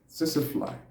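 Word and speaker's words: tsetse fly: Tsetse-fly. T-S-E-T-S-E-F-L-Y. T-S-E-T-S-E-F-L-Y. Tsetse-fly. That's how it's pronounced.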